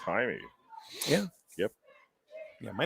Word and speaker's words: Jaime: a jaime but it was spelled jaime but it was pronounced timey yeah yep yeah my